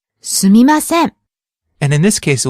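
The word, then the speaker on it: すみません: mm-hmm it's quite a humble phrase the correct pronunciation is sumimasen but you might hear some people pronounce it like swim ascend some people leave out to em sound yeah you hear this quite a lot SUIM ascend it's quite common in spoken Japanese now but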